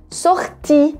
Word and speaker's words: sortie: L'heure de la, não é de, é de la sortie. Olha só, o E no final é mudo, pronuncia o I bem forte.